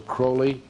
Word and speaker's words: Crowley: And the person I'm going to concentrate on is a fellow named Alistister Crowley. Uh he liked to be called Holy or Crowley because it rhyme with holy, but his real name is Alistister Cwley.